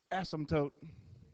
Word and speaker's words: asymptote: how you pronounce it the p is silent asymptote why do they even